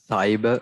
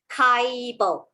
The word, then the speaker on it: cyber: So for those who have not learned the soft C rule, you may read this as Kaibo, which is wrong. Okay, because in my soft C rule, it says that when C is followed by I, E, or Y, it actually says S. So I read cyber.